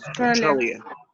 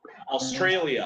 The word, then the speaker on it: Australia: La parte de alia se pronuncia alia. Pero ¿cómo diremos Australia? Australia. Australia.